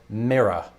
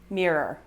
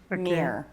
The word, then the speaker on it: mirror: phenomenon mirror to squirrel i pronounce this mirror mirror so you pronounce it that way but a lot of americans would pronounce it almost in one syllable near yeah you remember earlier